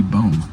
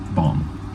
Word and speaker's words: bomb: so it could be bone. Or it may rhyme with tomb, so it could be boom. Wow, you really suck at this. It's bomb.